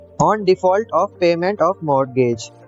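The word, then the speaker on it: mortgage: दोस्तों इसको बोलेंगे मोरगेज। मैं ऊपर गलती से मोर्टेज बोलते आ रहा हूँ, यहाँ पे टी साइलेंट है, यहाँ पे जी साइलेंट नहीं है, इसको हम बोलेंगे मोरगेज।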